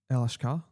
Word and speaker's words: El Ashkar: Yeah, I think the Lebanese pronunciation is El Ashkar. Okay, yeah. It's a bit softer.